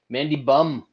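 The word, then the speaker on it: Mandy Böhm: pass podcast but uh correct pronounced nation mandy bum candy bum taking on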